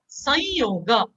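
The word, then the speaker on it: संयोग: Now when anuswara is followed by a consonant, which is not in a varga, it is pronounced as, look at this word, sa dot yoga, some yoga, right? So now you will pronounce it actually as sanyoga, sanyoga.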